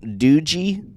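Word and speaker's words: Doogee: It's a How would you pronounce that? Uh, Dooji.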